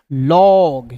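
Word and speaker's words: log: तो हो जाएगा एल ओ जी लॉग।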